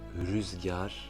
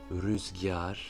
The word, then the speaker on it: rüzgar: d'origine arabe ou persane qui se prononce comme un I très léger. On le voit dans les trois mots suivants. Le premier, rüzgar, rüzgar, qui signifie le vent. On entend un très léger I entre le G et le A.